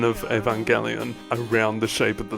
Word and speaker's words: Evangelion: twisting the pronunciation of Evangelion around the shape of the song and pointing out the way that it's pronounced with a G not a j but the first syllable